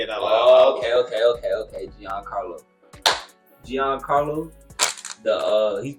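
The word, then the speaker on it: Giancarlo: his name I said I said it wrong GI Carlo Gian Carlo yeah I didn't even want to say it okay okay okay okay Gian Carlo Gian Carlo the uh he's playing side wer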